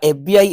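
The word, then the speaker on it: FBI: answer है यू आर एफबीआई agent एफबीआई agent बच एफ को जब आप राइट करेंगे तो ए साउंड मिलेगा आपको जोक वाउल साउंड है तो राइट आंसर एन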